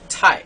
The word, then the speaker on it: 台: The fourth tone in Mandarin, which is a falling tone. For example, this word tai. Okay, so tai is a falling tone in Mandarin.